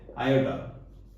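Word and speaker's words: iota: से डिनोट करते हैं एंड इसको हम लोग प्रोनाउंस करते हैं आयोटा।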